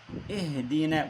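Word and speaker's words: اهدنا: Neste ihdine bu he harfi. Evet. Ih ih. Ha değil. Burada bu he var.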